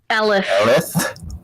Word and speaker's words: Elif: It's like elephant minus the ant part. Elf. Okay, this is There's Elf. an I. Elif. Like elephant, but Okay. Elif.